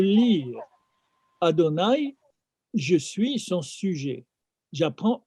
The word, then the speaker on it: Adonai: c'est-à-dire devant son nom, devant le nom qui s'écrit, mais on ne le lit pas comme il est écrit. On le lit comme nous pouvons le lire. Adonai, je suis son sujet.